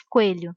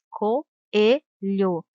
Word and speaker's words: coelho: Não se diz coelho, se diz coelho. Temos duas vogais, uma do lado da outra, mas na separação de sílabas devem ficar separadas, pois as duas vogais têm som forte e demorado. Por isso são chamados de hiato e não de ditongo.